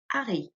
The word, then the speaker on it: Harry: this is harry okay in french this is ari in french if you remember the h is always silent isn't it that's